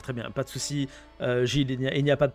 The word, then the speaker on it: Gilles: Ah, ça se prononce à la française, c'est ça? Oui, j'y tiens. D'accord, très bien. Pas de souci, Gilles, il n'y a pas de problème.